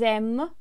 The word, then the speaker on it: aiment: Elles aiment le chocolat. They, girls, like chocolate. Yes, ENT is our ending, and of course we remember that it's not pronounced.